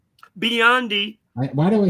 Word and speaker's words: Biondi: And we're starting off in the Olympics with Mark Spitz, Jenny Thompson, Matt Bondi. Biondi.